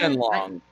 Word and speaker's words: Shenlong: Shenlong.